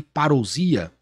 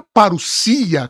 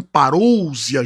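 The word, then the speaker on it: παρουσία: A parousia, as pessoas falam parousia, gente, mas nós temos algumas regras aqui no grego. O O e o U no grego, que é o ômicron e o Y, é um ditongo. A pronúncia é paru, paru. E o S no grego, que é o sigma, nunca tem som de Z, como, por exemplo, nós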